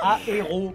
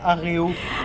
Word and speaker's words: aéro: Aéro, pas aréo.